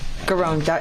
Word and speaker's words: Giron: Is that how you pronounce his name? Garon, her, yes.